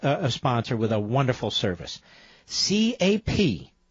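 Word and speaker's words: Capterra: Captira, like it sounds.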